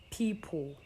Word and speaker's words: people: So it's not, we don't also have a word, we don't pronounce as people, but people. So straight from P to L, there's nothing in between P and L.